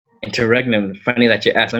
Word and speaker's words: interregnum: How have you been pronouncing it? Well, now, so I've been saying interrogems, but I don't think that's even how it's spelled.